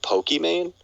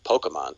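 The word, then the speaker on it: Pokimane: which is amman so technically it should be pronounced pokemon like just like the actual thing but because she spelled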